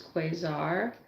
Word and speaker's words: Quasar: Um because my name is Quaar and some people say quiz or like some stupid like that.